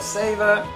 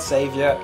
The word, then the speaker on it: Saver: story anyway River bet Soul Savor not savior Savor God damn it I keep saying it wrong every time rev Soul